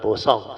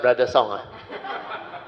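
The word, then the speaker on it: boosong: So my daughter used the word bosong. So we write down. B-O-O-S-O-N-G. So this one, bosong. B-O ni brother song. So this one in inverted comma. Bosong. Don't go pronounce like brother song.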